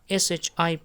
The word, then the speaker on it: ship: In sheep, here is the double e, so we pronounce like sheep, and here in a ship, a ship, ship, we do not elongate the sound, just in a short pronunciation.